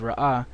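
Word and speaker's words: ראה: Alright, so I just want to let you know that even though it's pronounced Ra'ah, it has a ha at the end.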